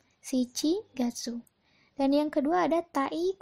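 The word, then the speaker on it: 七月: di ke pertama lagi di sini ada tujuh dan Gatsu dibacanya apa shichigatsu ya shichigatsu dan yang kedua ada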